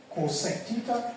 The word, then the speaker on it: cosec: So they are often written and pronounced as what? Sec theta, cosec theta, and cot theta.